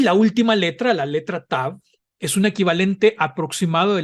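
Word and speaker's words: תָּו: En hebreo masorético, cuando lleva el punto interior, se pronuncia T, y cuando no lo lleva, se pronuncia como la combinación inglesa TH, como la Z española en España, no en Latinoamérica.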